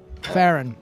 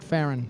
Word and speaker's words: Faerûn: just ice eagle-eyed Tesla doesn't exist in faerûn Ferren it's pronounced Ferran it does it's not that's already a pharaoh